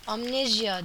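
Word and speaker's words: Amnesia: tekrar başlayacağım bu arada Amneja Amnezya diye okunuyormuş ben onu yeni öğreniyorum kusura bakmayın amne Amneja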